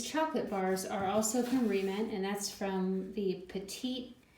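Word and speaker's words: Re-Ment: Most of the remint stuff is a little big, but some items like this money is sized perfectly for critters.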